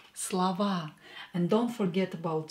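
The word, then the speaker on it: слова: we have Slava again o is not stressed here so we are going to pronounce it as a Slava and don't forget about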